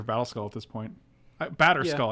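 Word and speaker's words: Batterskull: it's battle battle battle battle skull we could take our kikijiki for battle skull at this point batter skull i keep saying battle skull you wanna you wanna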